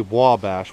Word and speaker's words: Ouabache: believe it or not that does say Wabash welcome to Wabash and I believe that is the Native American spelling of the word so that's how they